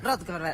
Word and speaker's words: Rothenberg: Estamos con Rothenberg para charlar, dirigente del masismo, me parece que lo pronuncié mal. Estuviste cerca. Apellido, estuve cerca. Sí, por aproximación está Bueno, bien. decilo. Rothenberg.